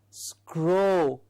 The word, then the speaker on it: scroll: it is not straw it is scrow like the bird that we have the black crow it is that sound the o sound the lips around it to give us o scroll scroll so it's not scroll